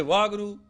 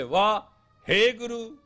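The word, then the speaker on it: Waheguru: If you say Vah Guru, you blew it. If you say Vah, Hey Guru, you made it.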